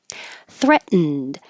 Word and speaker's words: threatened: to know the context threatened you won't hear the T in the middle at all your tongue goes to the T position threat and then you hold it there don't release any air like threat hold it